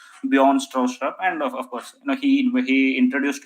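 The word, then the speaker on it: Bjarne Stroustrup: Basically, you pronounce, basically people pronounce from European side as Bjorn Stroustrup.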